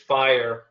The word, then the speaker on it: FHIR: jargon there Sonia uh I'll I'll pronounce it fire uh that's that's th those who live it that's how they pronounce it but uh yeah